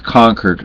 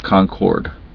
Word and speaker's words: Concord: of options and yes it's pronounced conquered not Concord even though it's spelled Concord but anyway um I